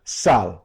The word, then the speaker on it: Salles: Am I pronouncing Salles right? I've always said Salles. Salles.